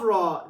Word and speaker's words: ر: The 11th Makharij is that of Ra. The place of the Ra is the same as letters Noon and Lam. Only touching degree of is laser while pronouncing.